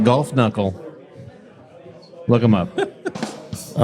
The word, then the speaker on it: Kunkle: When you're ready to convert that double IPA into a Roth IRA, talk to Geoff Kunkle at Edward Jones. That's GEOFF. Kunkle, pronounced golf knuckle.